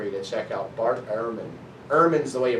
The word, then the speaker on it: Ehrman: Let me drop a name for an author for you to check out, Bart Ehrman. Ehrman's the way you pronounce it, but it's E-H-R-M-A-N, Ehrman.